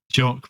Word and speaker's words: Jacques: Jock Brunswick, not Jack.